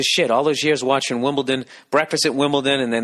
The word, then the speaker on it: Wimbledon: For years I've been saying Wimbledon. Yet another word that I've been mispronouncing. T-O-N, Wimbledon. But it's Wimbledon, D-O-N. Wimbledon. You just say it too